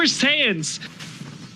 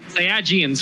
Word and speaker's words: Saiyans: This is like the Super Saiyans. Did I pronounce it correctly? The Super Saiyans. Yes. Or Saiyajins, whatever.